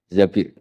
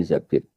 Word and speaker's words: Zabir: Kemudian saya nikah sama Abdurrahman bin Zabir di hadis ini bukan bacanya bukan Zubair, tapi Zabir. Abdurrahman bin Zabir.